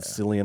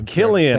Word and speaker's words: Cillian: I keep anglicizing that. God, C. you hate the Irish. Can you please honor them? I'm so sorry. Killian, hard C. And the hard C is so much cooler than the soft C.